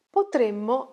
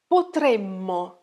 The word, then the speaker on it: potremmo: Potremmo andare insieme. Be careful though. Focus on the pronunciation. Potremmo, potremmo. And the future is potremo, potremo, potremmo, potremo. Mind your double consonants.